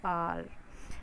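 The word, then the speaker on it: hour: For example an elephant, N आउल, an injury, N आर. देखो एच ओ यू आर में H silent है, इसलिए हम यहाँ पर एन यूज़ करेंगे.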